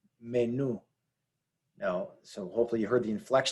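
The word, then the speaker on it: menú: this word is pronounced menu menu now so hopefully you heard the inflection at the end new is the stressed syllable now this ends in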